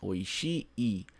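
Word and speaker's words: oishii: quente mas oi oi não esqueça de pronunciar o último I tá não é oi é oi i que significa gostoso saboroso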